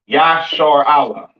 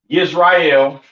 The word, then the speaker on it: Israel: This is how you pronounce Israel in the ancient Hebrew. Ya, Yashar Allah, all right? Not Yisrael, not Yasharal, and a lot of